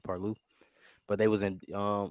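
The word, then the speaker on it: Parlux: paru p a r l uux but it's pronounced paru but they was in um over endorsement deal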